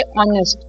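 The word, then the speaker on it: honest: लेकिन साइलेंट होता है व्हेन यू से ऑनेस्ट यू डोंट से ऑनेस्ट right you से ऑनेस्ट तो which means that H is silent और एच के बाद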